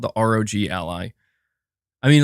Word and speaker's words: ROG: meant to be said maybe I could just say Rog Ally it's the same I'm just not sure with these things you're saying Rogue is how you pronounce it that actually I think